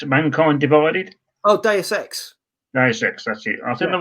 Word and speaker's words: Deus Ex: I don't know if I'm pronouncing this right, really, but it's I played Deus Ex Mankind Divided. Oh, Deus Ex. Deus Ex, that's it.